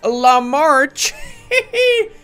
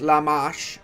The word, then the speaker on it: La Marche: I guess it's time to march towards La March. I know it's pronounced La Marche.